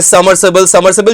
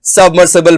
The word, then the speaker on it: submersible: बहुत से लोग गलत डिलीवर करते हैं, कहते हैं समरसिबल। भाई ये समरसिबल नहीं है, दिस इज सबमर्सिबल।